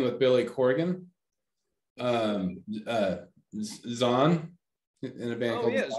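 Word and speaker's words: Zwan: in a band with billy corgan um uh zahn in a band oh yes one z-w-a-n what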